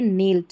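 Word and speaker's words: knelt: Knapsack है और यह नेल्ट है। यहां पर सभी में जो है के साइलेंट है।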